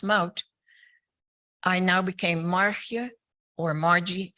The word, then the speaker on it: Maud: which was and your first name in English it's pronounced than Dutch it's pronounced mount I now became or